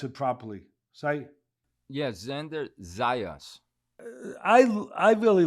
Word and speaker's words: Xander Zayas: How do I pronounce it properly? Yeah, Xander Zayas.